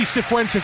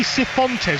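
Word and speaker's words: Cifuentes: they experienced last season Marty centes actually I found out it's Marty seones who've been pronouncing it wrong all this time and QPR they finished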